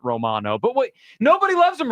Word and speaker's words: Romano: No, he ain't Romano. It's actually It's Romano. It's Romano. Yeah, I think we were saying it wrong. They corrected us on the broadcast. It's Romano, not Romano.